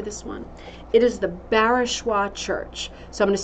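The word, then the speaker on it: Barachois: the answer to this one it is the barishwa church so I'm going to spell that out for you if you've got your pen up and ready b-a-r-a-c-h-o-i-s barishwa um it's a beautiful Church in Nova Scotia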